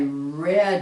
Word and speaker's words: read: like one yes i read it the same word but sounds different this one sounds just like the word which most of you know the color red okay so that if you